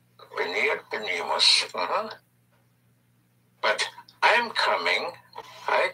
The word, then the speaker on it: venir: We have to come, which is venir. Venir. Venir. V-E-N-I-R. Venir. Again, the V and B have the same sound. Pronounce with your lips, venir.